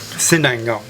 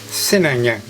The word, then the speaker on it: Sinangag: And I'll try and get my mouth around pronouncing it again. Sinangag. Sinangag. Sinangag.